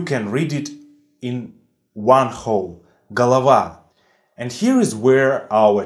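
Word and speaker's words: голова: ah now it's clear so basically galava is pronounced as gah lava gah lah lah lah because according to a rule and stressed or is pronounced as ah there is a bunch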